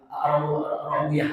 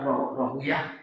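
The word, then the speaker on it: Rahawayh: dan Imam Ishaq Arwahawi Rahwiyah ya ada yang mengatakan Rahiyah membaca ada Rawa ada dua cara bacanya Ishaq bin Rahwiyah ada Ishaq bin Rahwi ah dua Dua ulama ini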